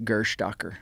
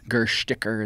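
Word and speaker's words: Gerstäcker: that was published in 1854, written by Friedrich Gerstacker. Some people, the Germans will say that I'm pronouncing it wrong, and I'm sure I am. Gersticker is what they say.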